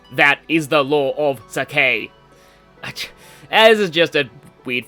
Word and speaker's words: Sake: Yes, this place is just like the Sake Plains. That's where I was born. I used to pronounce this Sakri. I don't know why I thought there was an R in it.